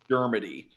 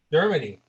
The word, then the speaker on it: Dermody: Dermody. Dermody.